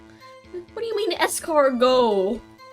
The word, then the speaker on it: escargot: Stop putting T's in that word. You don't even spell it. It doesn't even sound like that. What do you mean escargot?